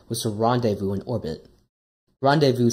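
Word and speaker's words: rendezvous: to revu in orbit randevu simply means to meet up I don't know why it's spelled like that I'm not French once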